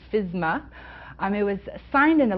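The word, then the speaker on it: FSMA: that are not familiar it's sometimes pronounced fisma um it was signed into law by President Obama on January 4th 2011.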